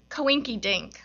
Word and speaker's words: Coinkydink: And it's titled Coinkydink. A silly word for coincidence, I say to my child, has no place in a poem, but does rhyme with mink, which I don't like,